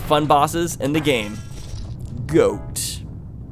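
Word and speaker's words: Goht: Time to fight one of the most fun bosses in the game, Goat. Although it's spelled weird, G-O-H-T.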